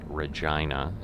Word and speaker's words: Regina: that we're using so i think this is regina is how they pronounce this city let's see if the speed